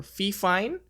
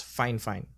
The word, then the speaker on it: FIFINE: heard some people say it's called fine or fif fine but apparently the company name is pronounced as fine fine and if you are also interested actually our